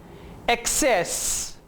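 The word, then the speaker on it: access: Double C is usually pronounced like KS. एक्सेप्ट, कबूल करना. एक्सेप्ट. एक्सेस, पहुंच या रसाई.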